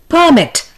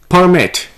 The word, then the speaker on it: permit: the word is permit the noun form is permit stress being on p e r the verb form is permit here the stress is on mit the word is abuse